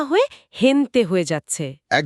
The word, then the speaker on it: gente: গেন্তন না হয়ে হেনতে হয়ে যাচ্ছে।